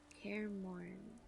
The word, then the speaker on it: Kaer Morhen: We're nearing Kaer Morhen. Kaer Morhen. So the H is silent.